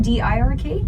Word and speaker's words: Dirk: it's not DIRK. Oh, it might be DIRK. Either way, it's Dirk. It rhymes with jerk, but he's not a jerk though.